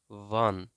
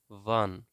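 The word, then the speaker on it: wann: দেন হয়েন, হয়েনকে জার্মানিতে উচ্চারণ করা হয়, বলা হয় ভান, ভান, ভান।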